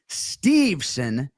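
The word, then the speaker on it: Steveson: And by the way, uh surname two syllables, Stevesson.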